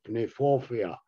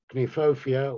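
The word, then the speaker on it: Kniphofia: with them i suppose if you were german speaking you would pronounce it can euphoria but uh it's uh clenephofia or the red hot poker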